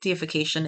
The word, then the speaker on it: deification: And my deification is Earth. A deification, not defecation or decimation or destruction. A deification, how you pronounce it matters, is I have chosen to go through an experiment.